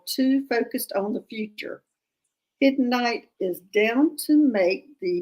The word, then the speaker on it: Hiddenite: I would pronounce that Hiddenite.